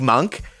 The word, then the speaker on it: Monk: Malik Monk, whose name rhymes with dunk, as has been pointed out, I think on the No Dunks podcast, he's a real terrific dunker.